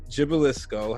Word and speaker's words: Gibilisco: that is the one and only miss alexandria gibbelisko how you feeling alex well look at you